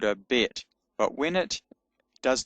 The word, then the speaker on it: Bet: So when it's got a hard sound with the dot in it, signified by the dot in it, it's pronounced B. So it's called a Bet.